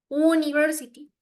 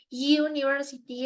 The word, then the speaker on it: university: Because university, it's not like university. It's like university. Es como si se pronunciara como una, entre una Y y una J muy suave.